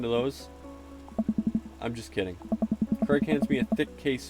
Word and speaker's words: Craig: It's just Craig. It go egg. You know, AI. Egg. DJ Keg Stands Mega Mix Volume 1. Craig is pronounced with Greg, but with a C.